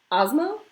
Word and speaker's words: Esma: Esma, a Turkish, originally Arabic name. I think in English it's pronounced more like Ozma. Because there's this thing called asthma, which is not a fun thing. It's when like you can't breathe and your lungs constrict. But Ozma.